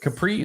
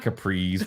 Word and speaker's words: capri: what are they called Capri Capri not capris wow um no what